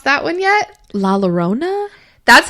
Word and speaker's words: La Llorona: The one I'm doing, have you tried to pronounce that one yet? La Llorona?